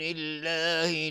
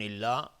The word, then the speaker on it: الله: بعضی اینجا الله رو مفخم تلفظ میکنن و این اشتباهه چون قبل از لفظ جلاله کسره اومده. میگیم من دون الله، دون الله، من دون الله. دهان از هم باز میشه به خلاف وقتی که مفخم هست دهان جمع میشه. اینجا دهان از هم باز میشه که نازک تلفظ میشه.